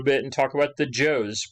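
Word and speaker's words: Zhou: and talk about the joe's pronounce uh i believe it's pronounced joe dynasty all right so these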